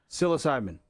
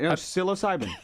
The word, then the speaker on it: psilocybin: Psilocybin. Thank you, buddy. Yeah. Okay. Thanks. Good shot. That's right. Psilocybin. Okay. Psilocybin. All right. So once again, the P is silent like will happen sometimes in Latin deals.